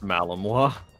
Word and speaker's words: Malinois: A Malinois. Yes, yes, like Illinois. Yeah, I see it. It's pronounced Malinois.